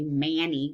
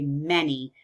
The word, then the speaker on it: many: word is an a we don't say mani we say many so if I was in class and I would say Luke tell us why we think that that word might be pronounced many and not mani I bet you that